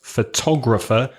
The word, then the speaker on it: photograph: It's photograph, but it's photographer. So photograph, the second syllable, photo, it's a schwa, isn't it? It's that sound, that really lazy sound. But in photographer, it's a different vowel sound.